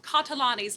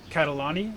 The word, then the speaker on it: Catalani: I'm going to ask a question specifically about the Catalani. Am I pronouncing that yes, right? Catalani?